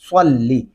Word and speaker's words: صلی: تلفظ ادا نہیں ہوتا۔ صاد زبر لام، صلم زرلی، صلی، دیکھیں صاد پڑھتے ہوئے ہمارے ہونٹ گلائی کی طرف جاتے ہیں، تو یہاں پہ بھی صلی، جب ہونٹ گول ہو کے آواز نکالیں گے تو تب اپنے آپ ہی صاد بن جائے گا۔ کیا درست تلفظ ہوگا؟